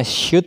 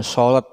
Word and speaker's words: should: to the doctor Hai itu bacanya shoot ya bukan salad yang cute Cut disini artinya seharusnya